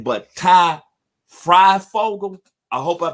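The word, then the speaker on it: Fryfogle: I won't want to butcher his name, but Ty Freifogel. I hope I pronounced it right. It's Freifogel.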